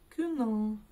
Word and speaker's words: күнің: И мы видим букву У, недописанную, так скажем, да? За основу берем, чтобы ее прочитать, букву Ю. Но смотрите, когда мы произносим букву Ю, изначально мы слышим и краткую, а затем уже остаточное звучание звук Ü.